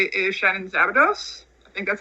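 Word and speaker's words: Szabados: And then my other one I will say is Shannon Zabados.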